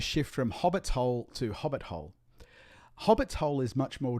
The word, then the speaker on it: hobbit-hole: You put stress on both the hobbits and the hole. You say hobbit's hole. But then as it becomes more familiar, you actually drop the stress on the second part of it and you say hobbit hole.